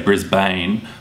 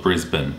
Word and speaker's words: Brisbane: is Brisbane now I guess from the way it's spelled it's easy to assume that you say Brisbane but we actually call it Brisbane up a little further is a tropical tourist